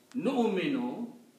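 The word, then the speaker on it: نؤمن: You should not pronounce this wow. If you pronounce the wow, the sound will be nu. There is no sound of nu here. The sound is nu. Noon with hamza.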